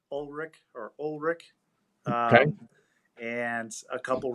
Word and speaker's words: Ulrich: so um full like full actual name is pronounced ulrich or ulrich and a couple references i used